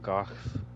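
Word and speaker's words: Gough: Gooff rhymes with cough.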